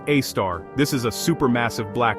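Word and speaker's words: Sagittarius A*: It is called Sagittarius A, pronounced A-star.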